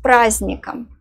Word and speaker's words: праздником: The letter D is silent here. Try again. С праздником.